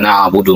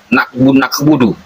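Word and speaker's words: نعبد: Sementara yang dimaksud oleh ayat tersebut iyaka na'budu menggunakan ain artinya hanya Engkau tempat kami menyembah. Lalu bagaimana pula jika na'budu itu menjadi nakbudu? Maka inilah artinya iyaka na'budu waspadalah terhadap musibah.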